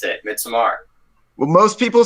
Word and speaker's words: Midsommar: I thought that was how you pronounce it, Midsommar. Well, most people say midsummer, so I just sort of say midsummer. I say midsummer / midsummer because I heard Ari Aster call it midsummer, so I just assumed